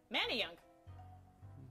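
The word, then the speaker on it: Manayunk: Manan I like Manan Manny young Manny young man you're actually correct it is Manny Young all right we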